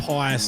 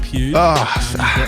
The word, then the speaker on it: Pius: It's St. Pius, not St. Pew.